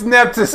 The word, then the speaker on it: Nephthys: Oh, it's Nephthys.